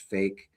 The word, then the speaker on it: PHEIC: A rare strain of Ebola has prompted the World Health Organization to declare a public health emergency of international concern PHEIC pronounced fake.